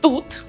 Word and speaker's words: тут: There is another word also, тут, здесь, тут, you can use both.